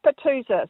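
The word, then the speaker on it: Petousis: Helen Patoussis, is that right? You're pretty close. It's Patoussis, yeah. Patoussis. Yeah, not to be confused with pertussis, otherwise known as whooping cough.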